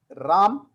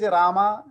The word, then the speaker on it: Rama: Like North Indians sound is Ram, Bal, Kapil. Dev, जी drop the A. Then European and South Indian style is Rama, Krishna, Deva, Kapila, Veda.